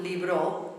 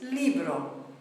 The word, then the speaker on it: libro: We've got the word for book, libro, ends in a vowel, beats on the E. It's not libro, it's libro. That's where we hear the rhythm. We add an S, it doesn't change, so it's libros.